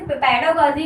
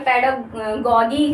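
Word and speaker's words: pedagogy: को मैंने देखा है, ऐसे आपने पेडागॉगी भी कई सारे लोग कहते हैं, फिर अपने आप कहीं पे भी आप सर्च करें अकॉर्डिंग टू मी, तो आप सब फ्रेश प्रोनाउंसिएशन जो होगा वो पेडागॉजी ही होगा।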